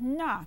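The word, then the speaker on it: 那: sure sure means this the term na means that now it's it with the fourth tone na na na now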